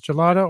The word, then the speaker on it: gelato: pronunciation I looked up gelato while we were it's apparently I saw two pronunciations listed online both with the soft G as gelato or gelada which I